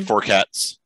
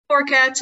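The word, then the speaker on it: forcats: Forecats or forecategories? Or that's just fine. I just say forecats. Forecats.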